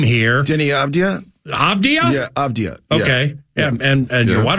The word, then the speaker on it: Avdija: there and stuff, but I didn't want to butcher the Avija. What? The AV with the weird J? So, like, we're talking about that game here. Denny Avdija? Avdija? Yeah, Avdija.